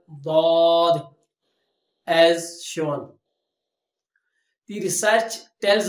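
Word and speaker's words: ضاد: Arabic alphabets, that is Dad. How to pronounce letter Dad? When upturned side edges of the tongue touches to the edges of the upper grinder teeth, then it will pronounce letter Dad as shown.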